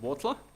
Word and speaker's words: Huautla: It's about 5-6 hours drive south of Mexico City, a place called Huautla. So pronounced like you spell it with W, even though you spell it completely different.